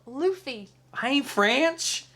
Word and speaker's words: Luffy: adventure but luffy luffy luffy what i say lovely i didn't say fluffy he said luffy it says luffy it's pronounced luffy i ain't french it's